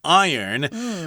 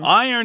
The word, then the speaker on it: iron: like copper and zinc, and in this case, iron. Iron is a tricky word here because it's pronounced iron, not iron.